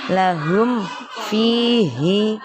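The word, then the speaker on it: لَهُمْ فِيهِ: Cara membacanya mim sukunnya dibaca jelas. Lahum fihi.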